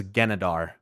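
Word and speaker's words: Genedar: God, I'm the one that gets mad when people correct my pronunciation, but it is Genadar.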